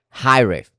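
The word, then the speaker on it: Hiraeth: High riff. That's how you say it.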